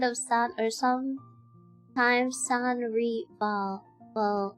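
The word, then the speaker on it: Sans Rival: San reball. Well, the name is French for without rival pronounced in Philippines with slightly Spanish influence phonetic flare.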